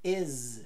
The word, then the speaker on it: is: i não tem som de i tem som de e e o s tem som de z não de S is is he is ai